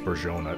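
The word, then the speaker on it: Bourgogne: and um borjon looks it's spelt borgogne i didn't lose any for tradition so but it's uh pronounced bergeon i believe thanks to a commenter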